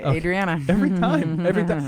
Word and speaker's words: Adriana: Adriana. Every time. Because I want to pronounce A as an ah sound.